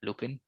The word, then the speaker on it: Lupin: Lupin or Lupin or however Yeah, it's pronounced. that is correct. Yeah, Lupin.